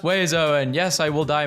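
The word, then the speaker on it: oiseaux: No letter is pronounced the way it should. And then there are 7 of them. It's pronounced Wezo, and yes, I will die mad about it.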